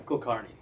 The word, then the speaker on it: Kulkarni: Karnney. Kardi. I know it's a lot. Sorry. How do we spell that?